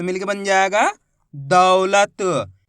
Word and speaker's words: दौलत: इसी तरीके से आपको उच्चारण करना है दौलत, ऐसे नहीं पढ़ना दौलत। दौलत पढ़ोगे तो ओ की मात्रा का उच्चारण हो जाएगा। कैसे पढ़ेंगे, दौलत, जोर लगाएंगे दा के अंदर, दौलत, इस तरीके से।